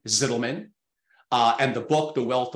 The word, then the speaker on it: Zitelmann: I would pronounce it Ranier, although not technically proper in German, Zitelmann.